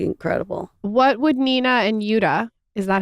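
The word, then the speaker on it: Jutta: What would Nina and Yuta, is that how you pronounce her name? Yuta.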